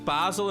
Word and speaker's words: Basel: It's Basel and not Basel.